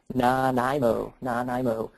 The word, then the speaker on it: Nanaimo: Yeah, and before we do that, I thank you everybody for helping me with the pronunciation. Nanaimo.